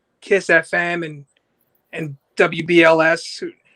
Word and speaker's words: WBLS: like Kiss FM and WBLS. Nobody from New York pronounces the W, by the way. Just a little tip in case you ever mention like, you know, old school heads like BLS.